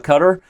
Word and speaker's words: Qatar: Peter Dockers joins us live from on-site at the World Rapid and Blitz Championships in Doha, Qatar.